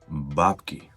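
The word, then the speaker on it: бабки: Babki. And it's very important to put the stressed syllable on the first vowel sound. Babki.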